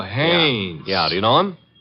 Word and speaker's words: Haynes: warf fishing so I what did you say his name is hannes h a i n s oh oh haes yeah do you know